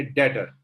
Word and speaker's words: debtor: डेटर, DEBTOR। इसे डेप्टर नहीं बोला जाता, कई लोग इसे डेप्टर बोलते हैं, गलत इंग्लिश है, बी साइलेंट होता है, डेटर्स।